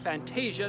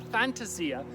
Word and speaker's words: fantasia: Italian for a fantasy it is not pronounced Fantasia no matter what Disney might tell you but a fantasy ax is a delightful little